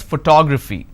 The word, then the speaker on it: photography: fee four syllables but in this case i stress on the second syllable that is what word